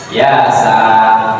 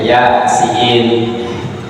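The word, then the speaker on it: يس: begitu Yasin Thaha begitu jangan dibacanya ya Sah jangan jarang baca terjemah bacanya Ya siin karena enggak bisa Bahasa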